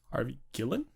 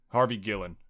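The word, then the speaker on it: Harvey Guillén: that guy's name is Harvey uh do I pronounce it right Harvey goo Ellen Gillen Harvey Gillen Harvey Gillen well and when we see in the movie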